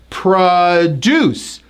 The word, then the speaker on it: produce: Now the same spelling of that word, when you stress the first syllable, it's pronounced as produce, which is like fruits and vegetables that you would buy in the grocery store.